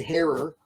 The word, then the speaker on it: Herer: I should say Herer because that's how Right. it's name is properly pronounced.